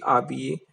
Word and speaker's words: habillé: Je me suis habillé, okay. H is silent, then sound go.